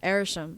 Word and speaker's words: Arishem: Yeah, I feel like either he can stand the sun, or somebody else's theory was that wait, how do you say his name? Arishem. I always say Arsham.